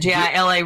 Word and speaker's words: Gila: The Gia, however you say it, Gila River in New Mexico. Yeah, the Gila River. Gila River, but it's spelled G with a G.